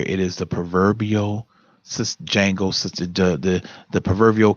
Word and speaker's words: Django: house Django d.j a in G Oh the D is silent we have to come